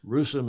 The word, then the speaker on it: Russom: to pronounce her name she says it's russom it rhymes with gruesome and she is anything